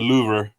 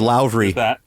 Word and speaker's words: Louvre: As is my tradition in correcting your pronunciation, I am obliged to say it's the Louvre, or the Louvre, if you want to say it American. So the Louvre.